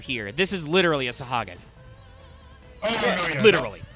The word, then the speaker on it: Sahagin: like, Final Fantasy they're Sahagin like are also actual very much the men. D&D Sahagin, because that's just how Final Fantasy works, but yes. Which can also sometimes be pronounced Sahugin. Or Sahaugen.